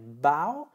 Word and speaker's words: bow: Et on termine avec bow, qui se prononce comme cow, voilà, la vache, bow, eh bien, bow, c'est la partie épaisse d'une branche.